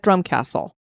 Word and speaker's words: Drumquhassle: The Romans invaded in the 1st century AD, and they built a Glenblocker fort at Drumcastle. And that is spelled Drumquhassle. I would have never pronounced it that way.